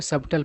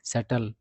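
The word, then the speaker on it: subtle: बहुत सारे लोग इसको सबटल पढ़ते हैं। गलत उच्चारण करते हैं। कारण कि इस वर्ड में बी का उच्चारण नहीं होता है। सही उच्चारण होता है सेटल।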